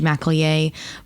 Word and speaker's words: McElyea: the time to speak with me today judge mcallier before we dive in tell me a bit